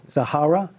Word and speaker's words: Zaharia: Am I pronouncing Zahara? Zahara.